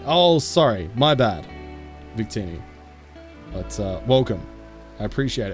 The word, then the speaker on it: Victini: just just really awful humor so yeah it's Victini oh sorry my bad Victini but uh welcome I appreciate it thank you